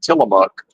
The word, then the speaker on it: Tillamook: It's like Tillamook, Oregon. And, it's like, oh, but it's Tillamook or whatever. It's like, well, I'm 100% certain it's pronounced Tillamook if you go there.